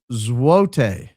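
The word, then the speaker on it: złoty: Zlotti is pronounced zote meaning golden. Why does it have an L in it? Oh, it doesn't. It's got a weird letter that we don't have.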